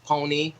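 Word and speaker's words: Ponyc: dropped an album called Pony uh it's spelled p-o-n-y-c the C is silent I hate it I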